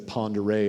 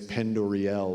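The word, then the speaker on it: Pend Oreille: wince, when they say, when instead of Ponderay, it's Pendoriel or something.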